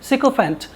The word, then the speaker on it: sycophant: देखिए, सिकोफेंट, SYCOPHANT, सिकोफेंट। इसका जो प्रोनाउंसिएशन होगा वो सिकोफेंट होगा।